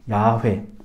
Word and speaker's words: 야훼: 하나님께서 여호와 하나님, 야훼, 야훼라고 발음이 되고 이제 여호와다데 이제 이 이름이 어떻게 채워지냐?